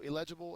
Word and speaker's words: illegible: it says um so illegible is an adjective the second syllable is accented it means difficult or